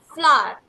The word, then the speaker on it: flour: तो FLOUR हमने इसे क्या बताया था, इसको कैसे प्रोनाउंस करते हैं? इट इज FLOUR, फ्लावर. Okay, OUR को class listen to मी, OUR को कैसे प्रोनाउंस करते हैं? OUR इज R. Okay, it's R. तो FLOUR, FLOUR को क्या पढ़ते हैं? R. तो उसके आगे L लग जाएगा तो हम इसे क्या पढ़ेंगे? इट्स फ्लावर.